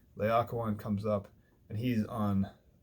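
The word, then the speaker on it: Laocoön: This is not Laocoon. Please resist temptation to pronounce it that way. Laocoon comes up, and he's on Capys's side, right?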